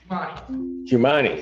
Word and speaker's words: Jamani: Jumani. Is that how I should pronounce it? Yes, sir.